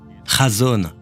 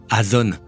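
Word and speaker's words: חָזוֹן: Et je veux aussi vous faire savoir que la façon dont il le prononce est chazon, et non azon. Chazon, comme être dans la zone.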